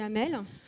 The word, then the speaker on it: Amal: Donc, ça s'écrit Amal, mais on dit Amel.